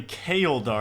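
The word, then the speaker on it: Chaeldar: So the way you pronounce this Slayer Master's name is apparently Kaeldar.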